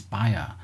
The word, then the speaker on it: Bayer: i don't know how i don't know how it's pronounced it's named after a person i think it's buyer it looks better but it's i think it's pronounced buyer um i'm gonna call it buyer um just uh so